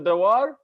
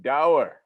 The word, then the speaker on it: Dawar: Brother Dawar? No, Dawar. Dawar like power. Allah is a power. Ooh, I like it. Dower. All right, I like it. Dower like power.